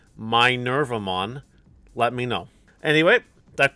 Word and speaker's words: Minervamon: safes as well also chat's telling me that's pronounced my so if you think it's pronounced my nervumon let me know anyway